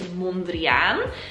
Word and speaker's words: Mondrian: And the proper Dutch way to pronounce his name is Mondrian.